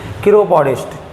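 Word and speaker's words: chiropodist: इसका प्रोनाउंसिएशन क्या है, किरोपॉडिस्ट।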